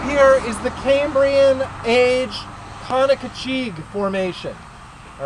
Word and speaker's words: Conococheague: outcrop here is the Cambrian age Conococheague Formation. All right? The Conococheague Formation. Conococheague is spelled C-O-N-O. C-O-C-H-E-A-G-U-E. Conoco, just like the gas station, Cheague. C-H-E-A-G-U-E. All right, now the Conococheague Formation